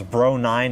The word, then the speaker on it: BR09: a quick side note the models of the tower and bookshelf speakers can actually be pronounced as bro 9 and bro 3 which is how i'll